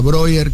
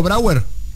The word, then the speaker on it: Brauer: te pregunto a vos, estamos hablando con Mara Breuer, que es... Brauer, que es diputada. Está muy freudiano. Bien. No digo porque Breuer era alguien que dialogaba con Freud en la época. Brauer. ¿Está bien pronunciado Brauer?